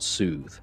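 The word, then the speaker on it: soð: It's pronounced like we would say the word soothe, but it's just S-O and the D with the, looks like a D, but it's eth.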